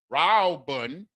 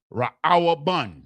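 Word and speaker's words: ראובן: Ra'awbun is how it's pronounced in the Hebrew. Reuben is pronounced Ra'awabun.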